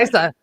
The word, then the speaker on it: Isa: Isa, like Liza. Isa. Yes, like Okay. Liza, but without the L.